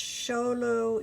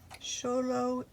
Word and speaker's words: Xolo: that word has starts with an X it's pronounced Xolo it's squiggly so low and squinting walk the dog walk the dog